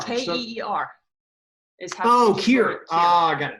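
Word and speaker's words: Ciar: How do you say your name? Sear? Care? Care. Here? I don't know. You just got new glasses today. You should be able to read that. No, it's C-I-A-R. K-E-E-R.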